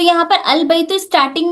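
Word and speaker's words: البيت: अलबैतु the house is pronounced as अलबैतु।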